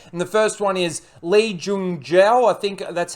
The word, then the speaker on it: Lee Jung-jae: And the first one is Lee Jung-jae.